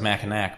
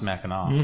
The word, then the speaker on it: Mackinac: Looks like Mackinac, but it's pronounced Mackinac.